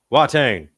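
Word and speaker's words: Watain: Wattain. You have to say it like in the Wuang style.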